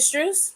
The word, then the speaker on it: Strus: Is it Strus?